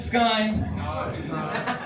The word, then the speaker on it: Ssky: It's Sky like the vodka, except I have 2 S's and not 2 Y's for trademark purposes.